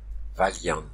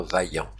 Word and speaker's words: vaillant: vers chevalier son trop Valian Valian et non pas vaillant van un peu à la façon espagnole je crois pour le